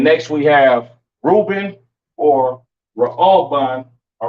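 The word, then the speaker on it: ראובן: But these are your Seminole Indians today, and this is pronounced Ra'alban in the Hebrew, Ra'alban, right?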